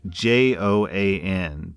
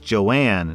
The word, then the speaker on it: Joan: It was owned by a husband and wife, and the wife's name was spelled J-O-A-N, but it was pronounced like Joanne, not Joan.